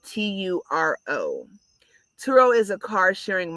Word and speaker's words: Turo: rent it out through a site like turo that's spelled t-u-r-o turo is a car sharing marketplace where you